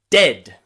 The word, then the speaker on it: dead: Not the same as dead, where the d at the beginning is stronger than the d at the end. Dead. Listen carefully. Dead. Dead. Dead.